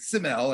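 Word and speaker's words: C'mell: Some people told me they pronounced it Simel, and I've always pronounced it Camel.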